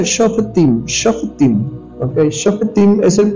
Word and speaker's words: Shofetim: Se pronuncia Shofetim, Shofetim.